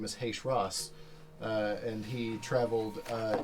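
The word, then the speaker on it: Heicher'as: wrestler his name is H Ross uh and he traveled uh in similar circuits uh how do you spell that uh h e i c h e r Apostrophe a s and that's which one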